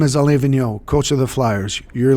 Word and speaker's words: Alain Vigneault: So I'm the American here, all right, and I say Alain Vigneault.